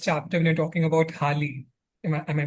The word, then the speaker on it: Hali: So when you're talking, I think in the first chapter, when you're talking about Hali, am I pronouncing it correctly?